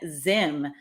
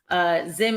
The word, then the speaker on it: Zzyym: Their name is Dana Zim. The last name is spelled so different, Zzyym. Zim is 63.